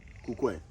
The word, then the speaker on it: Kukwe: or what are the, how do you say it in Ghana? Kukwe.